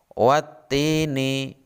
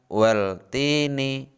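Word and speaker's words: والتين: bertemu dengan huruf ta cara membacanya watini bukan weltini jadi seakan-akan alif lam nya hilang contoh berikutnya terdapat pada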